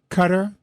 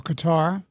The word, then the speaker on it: Qatar: I don't like the idea of having uh Qatar or Qatar depending on your pronunciation and uh Turkey as